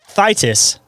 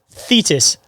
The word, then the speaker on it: Thetis: into the lake thitis am I saying that right th thus thus monster I'm gonna hope I'm saying it right I think we had written is it fetus fetus that is it yes the lake fetus monster enjoy our bloopers this